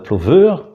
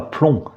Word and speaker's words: Pleumeur: Alors les autres Pleumeurs de Bretagne se prononcent soit ploveur, donc il n'y a pas de son nasal, on n'entend pas un son N, quoi. On ne dit pas plomb, on dit ploveur, on dit même pleur.